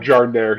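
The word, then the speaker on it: giardiniera: if you guys even I think that's a jardire. We call it jardaire here. Jardaire. Good. I I never knew how to pronounce that.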